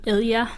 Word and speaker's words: Ilya: How do you pronounce it? Ilya.